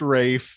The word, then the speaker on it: Ralph: The rest is Ralph Fiennes, as the lead, and he is absolute fines. His name ain't Ralph, honey. Where's Ralph? Isn't it? It's pronounced Rafe.